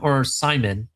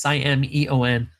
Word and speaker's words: Simeon: We also, for Florida people, Naples High School player running back Sean Simon. It's Simeon.